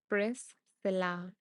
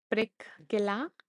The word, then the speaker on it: Priscilla: So, press it is pronounced it is pronounced pressilla but spelled with a C. Yes. No. C sound. Prickula is Is it prickula? Is it that? Um, just the S. Yes. No C sound. Just the S.